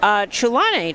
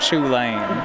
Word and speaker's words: Chulane: I believe, if you're familiar with the card, I believe the CH is like a guttural, almost like Scottish sound. Okay. Like in Loch.